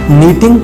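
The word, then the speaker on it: knitting: बुनाई वाली सुई, नीटिंग नीडल, नीटिंग नीडल, इसमें भी के साइलेंट है।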